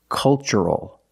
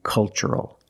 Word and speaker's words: cultural: That's right, it's ch. The first word, culture. And the second word, cultural. Also remember the first syllable is a short U, like cup and up. Make a relaxed sound. Culture. And cultural.